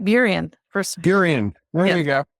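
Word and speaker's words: Burien: that's right on the water in I'm gonna pronounce wrong buan buan that's right buan first buan there you go I'm getting I'm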